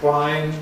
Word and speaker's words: whine: There's a kind of feeling around in Britain though and England that the quote pronunciation is more elegant even though we don't do it sort of natively.